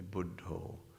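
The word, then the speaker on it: Buddho: Buddha just Buddha and in a Thai pronunciation A budo budo and you recite the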